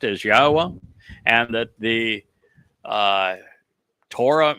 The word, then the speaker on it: Yahweh: the fact that God's name is pronounced as Yahweh and that the uh Torah means teaching, not law.